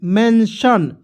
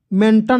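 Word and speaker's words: mention: टी आई ओ एन मेंशन मेंटन नहीं पढ़ेंगे मेंशन टी को ट यहां पे स पढ़ रहे है तो तो एम ई एन से मेन एम से होता है म होता है ना म लिख देंगे और इस ए की मात्रा में एन है तो इसके लिए ऊपर यहां पे लगा देंगे ठीक है मेन और टी आई ओ एन सन पढ़ते हैं सन टन नहीं पढ़ते हैं सन तो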